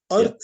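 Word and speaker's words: Artha: all of this those four words are dharm Earth sorry can you spell it for me dharam is Dharma d-h-a-r-m-a Earth is a r t h calm would be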